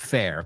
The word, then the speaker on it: fare: It has relatively good fare. Comida, alimentos. Okay. So again, it sounds exactly like F-A-I-R, but it's spelled F-A-R-E.